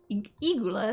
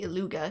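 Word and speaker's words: Illuga: Eigula, excuse me. I keep wanting to say Iluga because that's how it's spelled.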